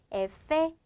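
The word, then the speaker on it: efe: 즉, 에페. 자, 얘는 에페라고 발음을 해주게 되는데요.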